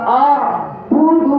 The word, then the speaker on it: أعبد: লা আ'বুদু মা তা'বুদুন। لا تعبدون এখানে আইন কিন্তু দুইটা আছে, প্রথম হামজার সাথে আইন। দেখবেন আমি উচ্চারণটা কিভাবে করি, একটু খেয়াল করবেন। লা আ'বুদু মা তা'বুদুন।